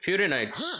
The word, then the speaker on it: Furina: FURINA.